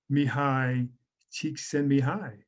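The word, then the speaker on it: Mihaly Csikszentmihalyi: was first described by mihai cheek send me high okay if you need a little mnemonic to get you to pronounce his name very difficult name but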